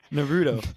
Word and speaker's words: Naruto: i'm pronouncing that wrong won't how do you pronounce it again because i've already forgotten naruto naruto naruto so he's talking about naruto i'm